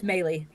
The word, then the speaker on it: Maylee: We're going to welcome in Jessica, and I believe Jessica is the last name Mail. I hate to mispronounce it. Jessica. That's okay. It's Maylee. Maylee, thank you very much.